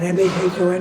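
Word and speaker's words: Mahón: Well, it turns out that the island's capital was called Mahon, M-A-H-O-N, but they pronounced it Mahon.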